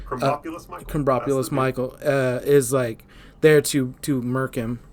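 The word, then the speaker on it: Krombopulos Michael: And so Kerbopulus Michael, I know I'm saying his name wrong. No, that's correct. Kerbopulus Michael is there to murk him, and that's his mark.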